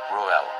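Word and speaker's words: Reuel: and means friend of God, or divine friend, pronounced as Ruel.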